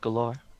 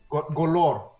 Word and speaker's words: Golorr: It's called Galore. Golorr. Golorr? Yeah. That is how you say, okay, Golorr.